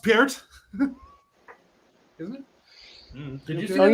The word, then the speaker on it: Peart: But after that, pronounced Peart.